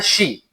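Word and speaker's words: し: क्योंकि Japanese language में four के लिए लफज़ इस्तेमाल होता है शी। एस एच आई शी।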